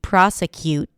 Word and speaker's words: prosecute: released it here but it could be a healthy prosecute where you just hear that abrupt stop of air but I don't like those confusions especially since you know native speakers of English may pronounce it with a t or may pronounce it without the t with a held t.